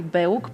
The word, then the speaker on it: BEUC: I say BEUC, but actually our policy is that we can pronounce it in different ways depending on our language. So there are colleagues that say BEUC, BEUC as well in French.